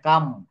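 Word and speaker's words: calm: একটু দেখি যেমন সি এ এল এম এটা কাম এটা কিন্তু ক্লাম বলা যাবে না আমরা কাম বলবো এ এল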